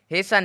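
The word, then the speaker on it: hasten: है टी ई एन तीनों एक साथ लास्ट में रहे तो इसमें से टी का जो है उच्चारण नहीं निकलेगा ई एन का होगा उच्चारण लेकिन टी का कोई उच्चारण नहीं होगा कैसे होगा एच ए एस टी ई एन हेसन हेसन मतलब होता है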